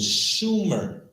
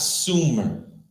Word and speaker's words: Sumer: So, in the cuneiform, it was Shumer, not Sumer. Read. To identify the region. Moreover, in accordance with the Sumerian phonetic law of admissibility, final consonants were not pronounced in speech. So final consonants in cuneiform were not pronounced in speech. Okay, this is very important to understand. Read. This means that the Sumerians most likely pronounced Shumer as Shum.